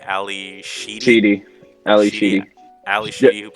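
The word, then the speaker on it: Ally Sheedy: Mm, You had how do you pronounce her name? It's Ali Sheedy.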